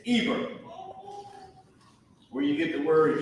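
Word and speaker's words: עֵבֶר: In Hebrew, first let me put the pronunciation. This word Ibar is Eber.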